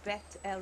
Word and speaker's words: Beth-El: Or Beth-El, I don't know how you like to pronounce it. In Hebrew, Beth-El.